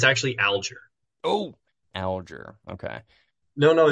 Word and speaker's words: Alger: they'd say oh like do you go by is it algar is it is it aler and then sometimes some some people would do the French pronunciation that'd be like oh I like no no it's um it's just classic like Horatio aler like for aler so yeah dude no